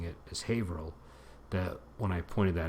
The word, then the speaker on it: Haverhill: It looks like it's pronounced Haverhill, but we're so used to pronouncing it as Haverhill that when I pointed that out to somebody